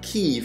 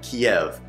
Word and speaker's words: Kyiv: we're going to focus on life in kiev pronounced kiev not kiev and spelled like this kiev is the capital